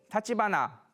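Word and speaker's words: 橘: 마지막으로 이제 타치바나 가문을 보면요, 이제 겐페토 키스의 마지막이 이제 타치바나, 귤이라고 쓰고 타치바나라고 읽는데요.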